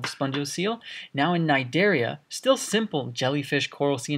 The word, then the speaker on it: Cnidaria: that i forgot to mention this is not pronounced Kanade area or Synod area this is just pronounced in Nigeria it's a Greek word the sea is silent